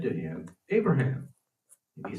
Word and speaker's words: Abraham: and said to him, Abraham. And he said, Here I am. The way I read that would be Abraham. The B would be pronounced as a V.